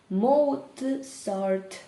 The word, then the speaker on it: Mozart: «Mozart» - тільки «ts» так швидко пробігає, що здається, що ми кажемо «ц»: «Mozart wrote the music»